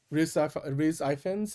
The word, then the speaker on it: Rhys Ifans: Riz, how do you pronounce his name? Rhys Ifans? Rhys Ifans.